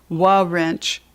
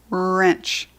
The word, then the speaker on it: wrench: And you notice the W is silent. We don't say wa wrench, we say wrench.